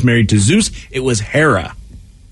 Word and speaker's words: Hera: then Hera is h-e-r-a here's the problem I think a lot of folks don't know how to say a short e and a short a let me hear you say it again it's ha like hat no no you say